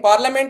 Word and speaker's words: parliament: In parliament you know like over letter we always obtain we use that I is the silent letter in that in parliament.